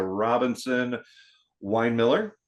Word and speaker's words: Robinson-Winemiller: today with a special guest again Dr Melissa Robinson Wine Miller right I pronounce it right good you did all right